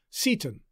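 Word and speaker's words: Seyton: a follower named s-e-y-t-o-n the pronunciation guides tell us that the name is probably to be pronounced satan but shakespeare must have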